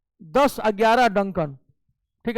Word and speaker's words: Duncan: डंकन pass, डुंकन नहीं होता है, डंकन पास है, DUNCAN, डंकन।